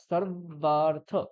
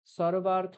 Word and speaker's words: সর্বার্থ: তাহলে উচ্চারণ সুন্দর হবে, শ্রুতিমধুর হবে যখন আমরা সর্বার্থ এটা বলবো। সর্বার্থ বললে কোনো ভুল নেই, বুঝতে পেরেছো? সর্বার্থ বললে কোনো ভুল নেই, ব্যাকরণগত বা উচ্চারণগত কোনোটাই ভুল নেই। কিন্তু সর্বার্থ এইটা বললে একটা শাস্ত্রীয় উচ্চারণ হবে, বোঝা গেল?